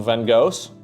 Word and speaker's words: Van Gogh: It's a little sad, but the Americans have some Van Goghs, or as we say in the Netherlands, Van Gogh. That's the correct pronunciation, chat.